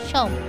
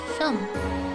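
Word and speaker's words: Seam: Oh, the name's, pronounced Shum. So, Shum.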